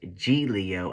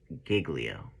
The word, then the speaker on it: Giglio: word wrong but yeah it's supposed to be pronounced G Leo apparently but I'm gonna keep saying Giglio I don't live in Italy it's almost like